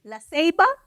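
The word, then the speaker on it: La Ceiba: La Selba. Is it Laselba? Is that how you say it? Laaba.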